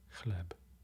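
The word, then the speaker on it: chleb: how are you sweetheart another instance of that ch pronunciation is in bread polish for bread is cleb club and it begins ch leb over here we have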